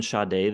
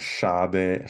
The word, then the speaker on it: Sade: We're doing Sade this week. I guess someone told us online that the correct pronunciation is Sade, but I will not be saying that. I will be saying Sade for the entire It's video.